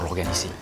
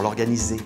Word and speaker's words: organiser: comment se dit, c'est un quebradero de cabeza pour l'organiser. Un casse-tête. Voilà. C'était un casse-tête pour l'organiser. Voilà. Z. Un S entre deux voyelles, ça se prononce comme un Z.